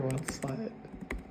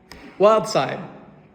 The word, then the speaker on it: Wild Side: Is it Wild Side or Wild Slide? Wild Side.